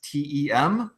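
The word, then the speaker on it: Testem: has been testm uh that's spelled te s Teem like go test them yeah um and that's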